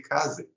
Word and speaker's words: Kaze: we realized that a lot of people say Kaz and now we just like you can say however you want it's cool that you're talking about our game you know it's feel free to pronounce it how you how you like but I probably will say here ky because K is it's easier for me um so yeah maybe